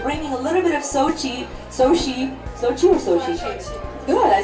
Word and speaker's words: Sochi: And the theme today is actually we're bringing a little bit of Sochi.